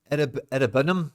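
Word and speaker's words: Iroegbunam: But then the transfer of Irabunum, if that's how you say it, I know it's a silent G.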